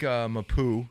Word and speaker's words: Mapu: I like Mapu.